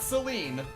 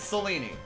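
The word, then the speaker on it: Selene: The E's are always pronounced. There are no silent letters in Greek. It is not Seline. It is Seleni.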